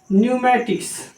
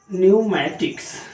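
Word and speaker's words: pneumatics: न्यूमेटिक्स, ये देख लीजिए, यहां पर पी की आवाज नहीं देनी है, सिर्फ एन की आवाज। न्यूमेटिक्स, सिर्फ एन की आवाज देनी है।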